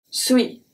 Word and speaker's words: suis: Je suis. Je. Je. The E is pronounced as a E. Suis. Suis. Suis. This one, the UI is pronounced as a W et WI.